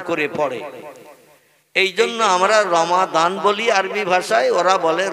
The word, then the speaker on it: রমাদান: কারণ ওরা দোয়াত অক্ষরটা মানে জয় অক্ষরের মতো আওয়াজ করে বা এই জয় অক্ষরের মতো উচ্চারণ করে পড়ে। এই জন্য আমরা রমাদান বলি আরবি ভাষায়, ওরা বলে রমজান।